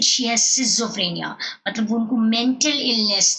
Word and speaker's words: schizophrenia: A, schizophrenia, pronounced properly, schizophrenia, schizophrenia.